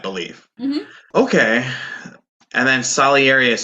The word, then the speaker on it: Salieri: Salieri, yeah.